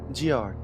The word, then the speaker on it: Giard: go to war with Giard very soon. It's Giard. Giard? Like GIF. Like GIF? Okay, that's like GIF, not like GIF.